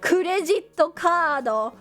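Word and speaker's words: クレジットカード: I know that credit card in Japanese is kurejito kado. But saying kurejito kado was so, I don't know. It's just so many syllables.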